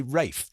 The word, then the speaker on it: Ralph: have told me I have to say Rafe, but I'm not going to. It's Ralph Vaughn Williams.